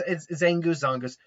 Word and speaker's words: Zangoose: It's Zangoose. I've watched too much Bleach. I pronounce the Zang as a Zon because it's not Zangetsu, it's Zongetsu. But no, it's Zangoose. No, but in all seriousness, Zangoose is Zangoose makes sense.